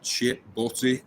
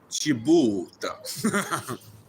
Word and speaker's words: chip butty: something that she had chip butty on the menu, but her pronunciation of it was chibuta. I fancy a chibuta, but I'm skint.